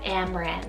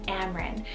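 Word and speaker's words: Amren: it means delicate and unique then we have amran spelt a-m-r-e-n amran this possibly means lovely dragon so cool but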